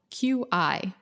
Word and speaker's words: qi: And for listeners, that's spelled Qi, but qi.